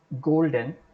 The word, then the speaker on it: golden: Golden, in the word golden, gold is a root word, N is a suffix, so gold will be stressed.